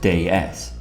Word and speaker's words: DS: stands for day s which is actually french for god s and is pronounced day s which could be an